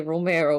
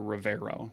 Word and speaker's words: Rivero: Did you mispronounce Romero on purpose, or did you not hear Rivero with a V?